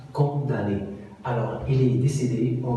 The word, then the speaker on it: condamné: déclic en 1829 alors faites attention condamné inscrit quand on a mené ça se prononce condamné alors il est décédé